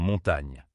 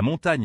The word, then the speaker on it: montagne: Mais en réalité en français, GN se prononce comme un seul son doux et lié.